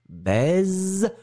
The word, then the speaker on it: baise: Yossi, c'est la même différence que poisson, poison. D'accord ? Voyelle, voyelle, SS, un S très très fort. Se, baisse, poisson. Voyelle, voyelle, un S, ze, baise, poison.